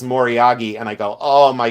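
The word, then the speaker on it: moriage: the builtup like icing they say moriyagi and I go oh my god I want to throw up but uh we always said morage like back in the day like oldtime antique dealers we said morage. We never said moriyagi.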